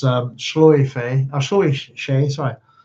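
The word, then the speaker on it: sluagh: It looks like Schloch, but it's Shloy Fay, or Shloy Shay, sorry.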